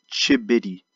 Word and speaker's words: Chigbity: of the city is chip bitty so the G is silent just like in the